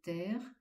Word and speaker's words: terre: Là encore, on appuie sur le e de terre et on appuie sur le e de palpite.